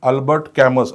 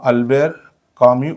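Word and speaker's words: Albert Camus: okay next word is अल्बर्ट कॅमस असं बऱ्याचदा मुलं म्हणतात तर याचा उच्चार हा अल्बर्ट कॅमस हा नसून याचा खरा उच्चार किंवा करेक्ट उच्चार हा अल्बेर कामि असा होतो तो काय आहे करेक्ट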